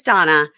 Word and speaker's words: Dana: You guys, it's spelled Dana like Dana, but it's Donna.